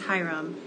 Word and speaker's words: Hiram: You have a situation in this book where there is a kid who has the name, it's spelled like this, Hiram. His name is Hiram, and Hiram becomes friends with Emmett.